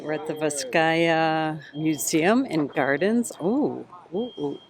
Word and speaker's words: Vizcaya: And we know how to say the name now, Vizcaya. Vizcaya.